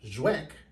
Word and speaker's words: Żywiec: from the Chicago area this is zek and this is the first time I ever knew how to say it because this is Polish all right this Brey